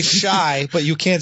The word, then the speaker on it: Chi: But it's pronounced shy, like I'm shy.